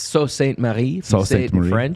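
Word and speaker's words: Sault Ste. Marie: uh it's different because this is a french pronunciation of the word salt yeah no it's it's just weird it's it's so saint mary okay which is weird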